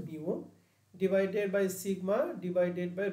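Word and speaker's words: μ: bar minus হচ্ছে মিউ এটাকে উচ্চারণ হচ্ছে mu divided by sigma divided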